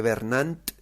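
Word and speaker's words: Vernant: de jean-pierre bernand entonces si lo pronuncia bien se dice bernal ya empiezas no que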